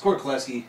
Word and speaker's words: Korklewski: Today I'm joined by my buddy Korklewski. Kluski. How do you say the last name, dog? It's Korklewski.